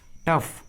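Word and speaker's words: tough: में आता है तो जी और एच का उच्चारण फ होता है, फ, जैसे रफ, रफ, टफ, टफ, देखिए दोनों इंग्लिश वर्ड्स में जी और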